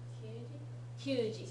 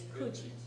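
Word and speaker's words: 九時: Kyuji. Kyuji. Don't pronounce it Q normally with G. It's Kuji, right? Q by itself, yes, but Kuji in this compound.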